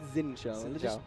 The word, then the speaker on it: Xin Zhao: Am in all Singapore, so I best get the pronunciation right. Is it Xin Shao? Is it bad? No, it's Xin Shao.